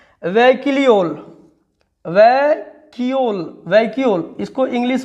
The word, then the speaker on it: vacuole: English में देखिए क्या बोल रहा है, वैक्यूल, वैक्यूल, इसको इंग्लिश में क्या बोला गया, वैक्यूल। इसका स्पेलिंग है VACUOLE, वैक्यूल।